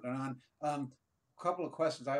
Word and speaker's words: Hernan: So Hernan, and so the H is silent, Hernan, a couple of questions